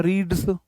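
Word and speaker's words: read: आर इ ए D pronunciation अलग हो जाता है V1 को रीड पढ़ते हैं। V2 को रेड पढ़ते हैं।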